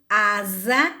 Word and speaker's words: asa: Então, quando ele está sozinho entre duas vogais, ele vai ter o som de Z. Eu coloquei 3 exemplos também: casamento, asa e casa. Se vocês pronunciarem essas palavrinhas em casa, vocês vão perceber que ao pronunciar, o som sai de Z.